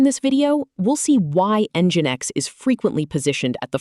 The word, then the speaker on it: NGINX: Now meet NGINX, pronounced NGINX.